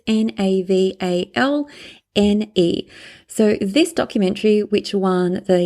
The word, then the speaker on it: Navalny: So I'm going to spell it out for you. It's Navalne.